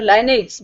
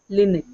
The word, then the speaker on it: Linux: Some of the people say Linux, others say Linux. And it is a noun. It doesn't matter whether you say Linux or Linux, but the correct pronunciation is Linux.